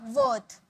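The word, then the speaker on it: worth: यहाँ पे वर्थ मत बोलना, वर्थ।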